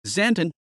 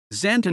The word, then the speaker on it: Xanten: zanton German pronunciation Sant lower franconian santen is a town